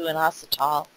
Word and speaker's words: inositol: It also converts into inositol and IP6.